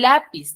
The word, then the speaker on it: lápiz: A diferencia, por ejemplo, del lápiz, ¿dónde tiene la mayor fuerza de voz? En la. La penúltima sílaba.